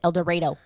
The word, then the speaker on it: El Dorado: one of the the towns is called El Dorado but they pronounce it El Dorado God yeah anyways um